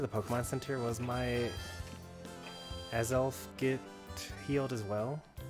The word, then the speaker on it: Azelf: not spell that right it's uh as elf i've been saying it wrong for like 20 years or something like that i've always called it as left i have been mixed this